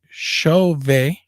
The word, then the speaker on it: Chauvet: Chauvet. You don't pronounce the T. It is French.